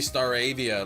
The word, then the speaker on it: Staravia: You say Staravia like aviation. That's what the anime says. Yeah, it's probably Star AIA like aviation.